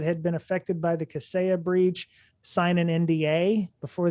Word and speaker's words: Kaseya: I've heard it called Kaseya. Kaseya. Okay. The emphasis is on the different syllable there.